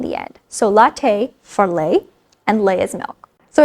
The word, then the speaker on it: lait: So we're going to take latte, because it kind of sounds like lait, and it also, spelling is also similar with the t in the end. So latte for lait, and lait is milk.